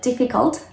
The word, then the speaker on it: difficult: like merlot um so it's very common for spanish speakers especially to delete the t at the end of the words and say instead of difficult difficult no the t needs to be there so don't say difficult please say difficult difficult and that was